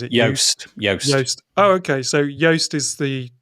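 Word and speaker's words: Joost: i don't know if i've said have i pronounced that right juiced or is it yoast oh okay so yoast is the pronunciation so yoast.blog but it's not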